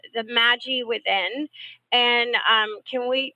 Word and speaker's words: Magi: I call it the magic because I'm going like magic so I'm like Maggie you know without the season Magi right that's the correct way to pronounce it the Magi well instead of it